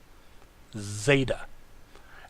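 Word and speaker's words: ζῆτα: next letter is Zeta Zeta we a lot of times we might view this as a Z sound but it's more of a DZ sound we'll pick that up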